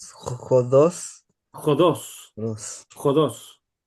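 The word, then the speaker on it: ὁδός: Acuérdate de poner la J antes. J. J. Dios sin la i. Jodos.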